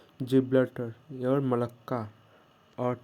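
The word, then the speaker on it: Gibraltar: गैबलिटर, ठीक है, गैब गैब रे लेटर, ठीक है, गैब्रेलेटर या जिब्लटर, ठीक है, प्रोनाउंसिएशन होगा जिब्लटर और मलक्का।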